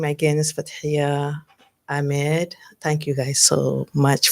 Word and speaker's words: Ahmed: You You gotta say do- H has to be it's not silence. And Americans say Ahmed, which is H is silence. Ahmed. It's Ahmed. Heck.